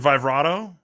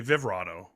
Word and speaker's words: Vivrado: Yeah, I pronounce it Vivrado. I've heard other people say Vivrado. Okay. But it's kind of one of those things that whoever, you can pronounce it however you want.